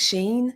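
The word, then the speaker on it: Shein: you camp shorty tank tops what yes thanks Sheen how do you say it sheen sheen sheen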